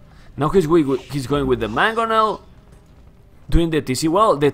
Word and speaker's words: Mangonel: If you want it in English, it's Mangonel, but in Spanglish, it's Bangomel. Ah, no, no, then I want to in English, come on.